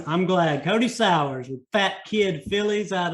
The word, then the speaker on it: Sauers: You got it, Sauers. All right, I'm glad. Cody Sauers with Fat Kid Phillies out of Sioux Falls, South Dakota.